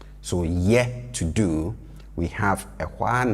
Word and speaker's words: ye: And this ye is, pronounced with a higher tone, right? And it's very important. If you bring it down, you'll be saying something different. So ye, to do.